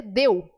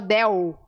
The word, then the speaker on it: del: não acontece no espanhol a letra L é sempre l então você pode ter tido a tentação de ter transformado esse ele aqui e dizer deu o Del você vai manter esse L igualzinho língua bate lá no céu da boca um lindo gatito crescio